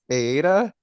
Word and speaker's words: Aita: um so I know my name is kind of weird it's it's Aida oh no I said